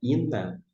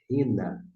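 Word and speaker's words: ἵνα: Bastante utilizada essa conjunção, você não pronuncia ina, porque tem uma aspiração. Se aumentar aqui o texto, vocês vão observar que tem uma aspiração. E por isso você pronuncia rina, rina.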